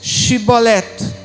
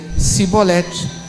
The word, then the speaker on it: Shibolet: 6 então lhe diziam dize pois shibolet porém ele dizia sibolete porque eu não podia pronunciar assim bem então pegavam dele e